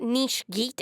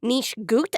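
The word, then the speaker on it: nicht gut: Oh, by the way, it's not niche geet, it's niche gut, and it is no good in German.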